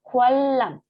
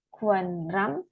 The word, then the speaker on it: 관람: Terus di sini ada huruf nien, bacim nien, ketemu huruf L, maka yang dilafalkan adalah huruf realnya. Jadi bacanya adalah kualam, ya, bukan kuanram, tetapi kualam.